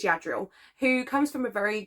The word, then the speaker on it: Yadriel: I think it's pronounced yadriel yadriel I think it's yadriel who comes from a